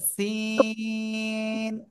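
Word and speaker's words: سين: তো দেখি কেমন করেন এই অক্ষরটা উচ্চারণ হবে জিহ্বার আগা সামনের নিচের দুই দাঁতের পেট ও আগার সাথে লাগিয়ে চিকুন আওয়াজে উচ্চারণ করব সিন ঠিক আছে সিন আমি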